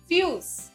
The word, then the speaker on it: fuse: These words have the sound of vowel U combined with E which is silent.